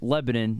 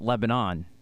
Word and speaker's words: Lebanon: pronunciations which I prefer just like Lebanon not Lebanon right next door to